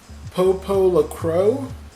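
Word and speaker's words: Popolocrois: dad then we have Popol a crow i believe it's pronounced and it looks pretty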